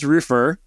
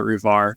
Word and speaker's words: Roofr: It is Roofr.